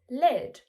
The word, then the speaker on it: led: The answer is led, with the E sound like red.